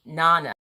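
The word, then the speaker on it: jñāna: and pavel corrected me giannis is nana the j is silent and jansen says lol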